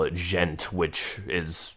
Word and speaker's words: djent: metal genre, or as some people call it, djent, which is spelled out D-J-E-N-T.